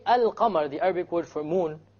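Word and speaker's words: القمر: where is the lamb silent silent it's not pronounced right ashams however when i say al qamar the arabic word for moon can you hear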